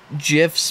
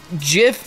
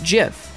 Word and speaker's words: GIF: I was there when gifs became a thing right right and JF is how the developers of the format pronounced it so at the time